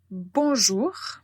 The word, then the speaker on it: bonjour: prononciation donc qu'on dit bonjour bonjour c'est naze elle ça veut dire que la lettre n on ne le prononce pas avec notre bouche donc c'est bonjour bonjour